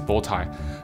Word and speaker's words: Botai: thought people couldn't pronounce my original name, which is Botai. Then I think that sophomore year in high school, I realized like the thing people wear is actually called Botai.